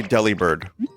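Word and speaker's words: Delibird: How do you pronounce the Pokemon Deli Bird? I say Deli Bird.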